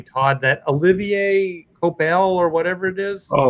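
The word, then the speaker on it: Coipel: That Olivier Copel or whatever it is. Oh, Copier. Copier.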